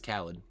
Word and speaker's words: Khaled: Khalid? It's Khaled. I pronounce it Khalid.